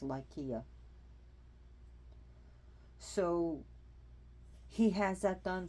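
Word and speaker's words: Lycia: spelled lysia but it's been supposed to be pronounced lykea so he has that done for his son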